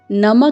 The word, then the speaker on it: नमः: यहाँ पर आपको नम के साथ 2 बिंदु दिखाई दे रही हैं। इसको संस्कृत में विसर्ग कहते हैं और इसका स्वर ह के रूप में आता है, तो आपको बोलना है नमः।